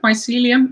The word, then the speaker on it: mycelium: way to say it the fungi i think mycelium is a good way to say it it's